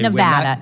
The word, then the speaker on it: Nevada: a month point in Nevada okay Nevada it's Nevada please say it correctly it's Nevada if a veteran lives